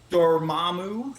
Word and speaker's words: Dormammu: How do you say it? Dormo? Dormammu. Yeah. Dormammu.